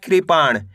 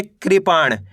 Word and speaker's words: कृपाण: मात्रा कृ पा और ण मिलके बन जाएगा कृपाण कैसे पढ़ेंगे कृपाण का में ऋ की मात्रा कृ पा ल